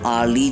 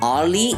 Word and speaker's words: hourly: An hourly job. An honest person. An FBI agent. An MP. In hourly and honest, the letter H is silent and the first sound